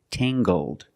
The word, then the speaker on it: tangled: her hair is tangled, using the nasal sound and the hard g, tangled.